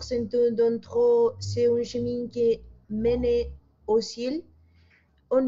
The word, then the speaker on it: chemin: manera que esto y esto, es la misma pronunciación, c'est un, con conexión, c'est un chemin, chemin, la E francesa, chemin, qui mène au ciel.